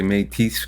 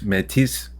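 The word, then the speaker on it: Métis: say that last one you can say it a couple ways I say mate but I've heard people say mate metis okay I I'm glad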